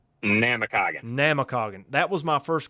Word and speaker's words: Namekagon: Give me the proper pronunciation of the Baron's name. Is it Namakagon or is it Namekagon? Namakagon.